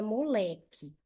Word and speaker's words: moleque: Eu tenho, por exemplo, a palavra moleque. Moleque. Vou separar essa palavra em sílabas. Moleque, qual é a sílaba tônica mais forte? Moleque é o lé.